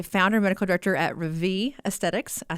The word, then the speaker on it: Rêvée: who is the founder and medical director at Ravi Aesthetics I said it right in Richmond Virginia